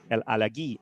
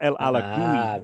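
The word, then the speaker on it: El Alagui: And so he said to me, Farid El Alaghi. El Alaghi, not El Alagoui, El Alaghi.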